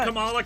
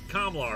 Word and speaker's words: Kamala: episode featuring her uh someone in the comments said it's pronounced i was like kamla or kamla and then i think like miss marvel the series came out it is kamala isn't it yeah it's